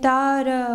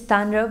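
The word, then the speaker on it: তাঁর: No, actually it is, according to the letter it is Tanra, but then the pronunciation in Bengali is Tar. It's like you have a nasal so, but everyone can recite Tanra.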